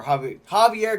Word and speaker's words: Javier: earlier i caught this xavier javier gutierrez i have i hate that i keep saying xavier i i know people that pronounce both ways but javier gutierrez did